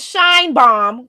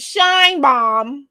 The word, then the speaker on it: Sheinbaum: But yes, her name is Sheinbaum, because to me it's obvious once I say her name. Her name is Sheinbaum.